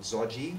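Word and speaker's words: ဇော်ဂျီ: the sides either called zoji which is the burmese pronunciation of yogi essentially but very specifically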